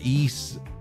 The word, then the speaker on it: Ys: I believe they did that for the East um translators. And by East, I mean the East series. I don't know if you pronounce it Wise Stew specifically. It's supposed to be pronounced East.